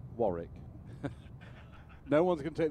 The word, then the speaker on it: Warwick: Warwick is pronounced Warwick.